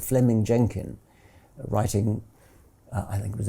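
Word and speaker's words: Fleeming Jenkin: So Fleming Jenkin was simply, it's written Fleming, but it's pronounced Fleming.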